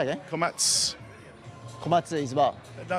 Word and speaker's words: Komatsu: No, I was talking about a silent U, whether it's the U is not pronounced on your surname. Komatsu. It is pronounced? Yes. It is pronounced. I got that wrong.